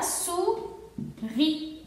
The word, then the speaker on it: souris: S cuando está en fin de palabra no se va a pronunciar, entonces aquí tenemos OU, sería U y tendríamos la palabra souris.